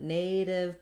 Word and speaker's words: native: Creative and native both have the stress on the A and they have the diphthong A, so it's a long vowel there. They also both have that flap, so they have the same ending as initiative. The div is short and unstressed.